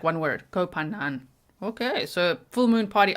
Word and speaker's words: Koh Phangan: on Thailand's famous full moon party island of Koh Phangan. I tried to listen to it a few times of how to pronounce it.